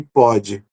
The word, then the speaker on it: pode: Pôde e pode. Vejam, a pronúncia de P e O fechado, que é o O como circunflexo, né? E o O aberto, que é o som de O.